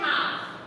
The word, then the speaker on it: half: फिर है हाफ, HALF, एल फिर से साइलेंट हो गया, देखिए।